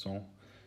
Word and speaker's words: cent: which you may know in french is a hundred pronounced song which comes from the